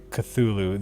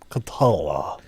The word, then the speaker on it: Cthulhu: Oh, it's Oh, okay, yeah, and he said it's supposed to be like the H is supposed to be like guttural thickness, like you said, like unpronounceable, like Yeah.